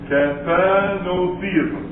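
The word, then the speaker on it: kathenotheism: We have Kathanotheism. K-A-T-H, Kathanotheism. That's the correct pronunciation.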